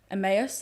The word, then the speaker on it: Emmaus: lot of raising money for emmaus i've been told that's the way to pronounce it i hope it is um so we've